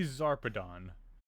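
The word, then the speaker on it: Zarpedon: ship trying to leave without us Colonel T zarpadon yes that is how you pronounce her name hey look one of those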